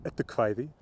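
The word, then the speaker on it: Eddukvæði: And look for Edu Kvæði, again, or well, in modern Icelandic pronunciation, Edu Kvæði, meaning Poems of the Poetic Edda.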